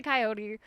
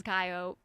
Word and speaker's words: coyote: I pronounce it coyote. I know some people say coyote. The regional accent where I live is coyote.